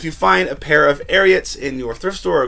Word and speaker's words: Ariat: some people pronounce it ariat but it's definitely ariat as in secretariat the horse and this brand is